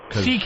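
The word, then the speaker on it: C.K.: CK is just the first two letters of your whole last name. It's pronounced CK, but it's spelled much longer.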